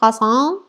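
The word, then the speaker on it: Passant: vielen dan auf wi دیدین که اکسنت شون فرق میکنه پزن پزن یعنی رهگذر پزان یه جورا مثل فرانسویان میگن من خیلی سختمه بگم پسان اینجوری میگن البته شاید اجازه بدین ببینم که تلفظ درستشو براتون بذارم ولی میگم مثل باید م فرانسوز بگین میبینید پس میشه رهگذر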